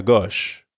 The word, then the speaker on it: gauche: Notice that the O sound in gauche is the same as in au revoir, or in the English word story.